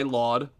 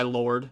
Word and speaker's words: Lawd: have Anderson Paak and Knowledge, also known as No Worries, and their album Why Laud, Why Lord, however you want to pronounce it, Why Laud.